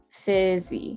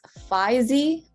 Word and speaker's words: fizzy: for a gentle word fizzy fizzy fizzy um again if you pronounce it as fuzzy you want to make sure that you're watching out for that a sound right specific specific